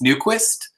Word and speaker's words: Newquist: style the name naive most people most of the time it's new Quist but but but if you pronounce it like sweet it you know the way the Swedes do it beneath this I'm not